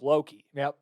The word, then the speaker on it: Loki: Loki rhymes with jokey, so it works.